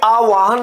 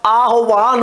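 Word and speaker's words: आह्वान: बोलते हैं ना आवाहन जबकि आवाहन नहीं होता आहवान होता है क्या होता है आहवान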